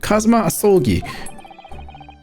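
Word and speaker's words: Kazuma Asogi: It's pronounced Kazuma Asolgi.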